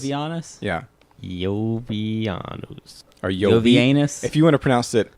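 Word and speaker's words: Iovianus: Did you say Jovianus. Jovianus? Yeah, Jovianus. or Jovi. Jovianus? If you want to pronounce it, Jovianus?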